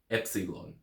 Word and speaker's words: epsilon: letter is EP epon Epsilon it is pronounced e as an egg Epsilon so let's say